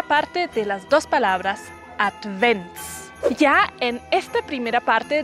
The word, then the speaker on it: Advent: en esta primera parte debemos separar bien las sílabas y acentuar bien la d al final de la primera sílaba y pronunciarlo como una t at and Benz debemos pronunciar la v como una W alemán colocando los dientes superiores en el labio inferior ya que advent es una palabra que viene de latín la ts es un